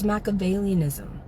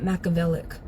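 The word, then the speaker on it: Machiavellianism: The way she leaves out syllables, it's macavalianism, not machavellic.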